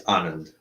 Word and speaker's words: Anand: Is that the proper pronunciation? It's Anand.